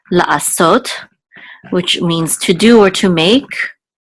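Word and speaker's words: לַעֲשׂוֹת: It'll be cholem also, so it'll be so, la so, and then the tav closes the syllable out, sot, la asot, which means to do or to make.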